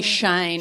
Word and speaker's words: Chayne: It's spelled Chayne. That'd be Shane. Shane. That'd be a bogan Oh. way of spelling Shane.